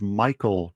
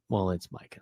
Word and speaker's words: Micah: As Jerry Jones said, it's Michael Parsons, not Micah. God. It's Micah.